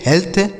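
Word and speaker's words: health: तो अगर ई ए के साथ क्या लिखा हो, ई ए का उच्चारण हम एक ही मात्रा भी करते हैं। ठीक है। तो इसे पढ़ेंगे dead, हेड, bread, हेल्थ, haven.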